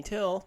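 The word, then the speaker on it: Thill: I am your host till that is da and and why T's silent H I ll and I know I've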